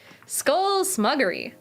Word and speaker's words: Skull Smuggery: But uh, skull smuggery says it's pronounced skull duggery but smug instead of dug.